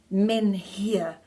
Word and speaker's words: menhir: "No, it's pronounced men here.